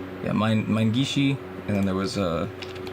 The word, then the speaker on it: Minegishi: Is that how it's pronounced? Yeah, Minegishi, and then there was Kenta Nagata.